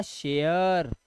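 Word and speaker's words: share: फ फेयर म मेयर और एस एच से बनता है श तो ये हो गया शेयर देख रहे हो आप ऐसे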